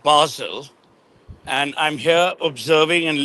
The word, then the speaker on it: Basel: at I'm at art basil no there's nothing to show off uh it's not basil uh in case thinks I'm talking about an herb which people like pronounced herb. So, it's art Basel and I'm here observing